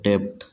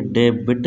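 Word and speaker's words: debt: इसमें क्या है कि बी साइलेंट है, हम पढ़ते हैं डेप्ट, यानी डेबिट नहीं पढ़ते डेप्ट। यहाँ बी साइलेंट है तो शॉर्ट हैंड में हमेशा जिसका साउंड, जो साउंड निकलता है वही लिखा जाता है। हम डेबिट नहीं लिख सकते, ये गलत हो जाएगा, क्योंकि साउंड इसका डेप्ट है।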